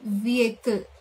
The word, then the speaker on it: vehicle: letter H but actually the stress should be on the letter V it should be vehicle the correct pronunciation is